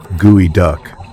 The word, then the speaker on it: geoduck: The geoduck, pronounced gooey duck.